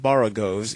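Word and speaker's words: borogoves: the first o in boros is pronounced like the O in borrow I have heard people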